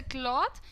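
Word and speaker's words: cloth: Pronunciation भी अलग होता है। इट्स अ क्लॉथ and these are क्लोथ्स। सो क्लॉथ एंड क्लोथ्स में ये डिफरेंस होता है, रिमेंबर।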